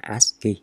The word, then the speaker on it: ASCII: ASCII, ASCII, ASCII, hoặc là ASCII đó, đọc là ASCII, bản ASCII đó, bản mã ASCII.